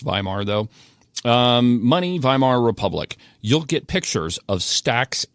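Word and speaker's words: Weimar: money um viar viar is spelled with a W it's pronounced viar though um money viar Republic you'll get pictures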